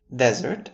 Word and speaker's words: desert: Desert, as you all know, is a noun for the geographic region characterized by dry and sandy and hot conditions. For example, the desert is a harsh and unforgiving environment.